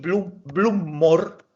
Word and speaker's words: blommor: No sé qué es lo que es blumor. Flores. Flores. Flores. Sí. Flores del Campo Santo. Embluma una flor. Blumor. Importante la pronunciación. No olvidarse de las dos consonantes. Bluma, blumor.